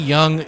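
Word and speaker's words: Jung: Jace, spell it J A C E. Young J U N G.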